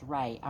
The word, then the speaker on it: Ra: found out today that his ra can be pronounced rey a monray like the sun ray so um and that